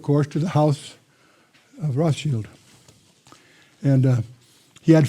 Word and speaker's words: Rothschild: Not Rothschild, that's mispronounced by most Americans. Rothschild, that's the German word for red shield.